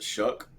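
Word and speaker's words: Shough: I believe it's pronounced Shuck, but it certainly sounds like Shuh.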